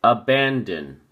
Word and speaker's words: abandon: look at your flashcard abandon has three syllables and the emphasis or stress is on the second syllable band so we say abandon abandon notice that we say in and that on we don't say abandon we see a band in in like going in something abandon and it is used